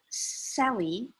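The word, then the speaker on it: Selye: life it was published in 1956 but Dr Sally that's how we pronounce it talks about stress from physiological perspective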